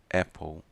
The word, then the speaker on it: apple: Maçã, escrevemos com A e falamos com som de E, apple, não é apple, muita gente fala apple, apple. É uma vogal, é escrita com vogal A e é falada com vogal E.